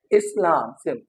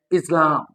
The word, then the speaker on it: Islam: In Sindhi, in Urdu and even in other languages we pronounce this word as Islam. But when an English speaker pronounces this word, he would be pronouncing it as Islam. Islam. अब Islam s changes into z just because ये जो